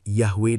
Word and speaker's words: Yahweh: Mengapa kita menulis Yahwe dengan W dan bukan Yahwe dengan V? Ini berkaitan dengan evolusi fonologis huruf Ibrani. Wow. Dalam tradisi Ashkenazi Yahudi Eropa Timur, huruf ini diucapkan sebagai V seperti dalam kata victory.